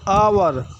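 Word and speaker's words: hour: ना कि ह से आवर आवर का उच्चारण अ से शुरू हो रहा है एच साइलेंट है ह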